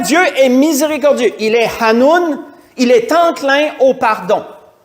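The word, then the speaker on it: חנון: Quand on va sur le mot hébreu, je vais essayer de le prononcer, je me suis pratiqué une couple de fois, ça se dit Hanoun.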